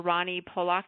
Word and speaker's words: Rani Polak: I've been saying Dr. Ronnie Pock. Is that correct or incorrect or That's perfect.